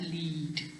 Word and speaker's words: lead: do that yourself and this is an e sound it's not lead it's lead okay now it's it